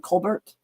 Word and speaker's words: Colbert: Stephen Colbert's real name is Stephen Colbert. Colbert just sounds fancier, so he just changed the pronunciation of it.